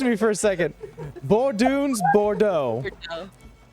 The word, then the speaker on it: Bordeaux: things in a campaign you can't say oh Bordeaux Bordeaux the X confused me for a second borun Bordeaux it's also a bit of a tongue twister